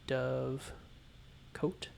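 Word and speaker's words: dovecote: can't think of another way it would be pronounced. See, dove coat.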